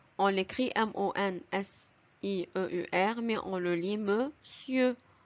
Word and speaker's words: monsieur: Attention, le nom monsieur se prononce monsieur. On l'écrit M-O-N-S-I-E-U-R, mais on le lit monsieur.